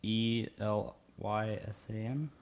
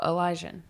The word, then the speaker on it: Elysian: ELYSAN. Oh, Elysian.